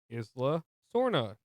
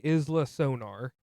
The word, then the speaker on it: Isla Sorna: If I don't say it like that, I'm going to say Isla Sonar. because that's how I originally wrote it because I'm like is son Sonar that doesn't sound right anyway.